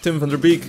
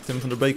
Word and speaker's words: Tim van der Beek: And we have Tim van der Beek, if you pronounce his name in English, Tim van der Beek in Dutch.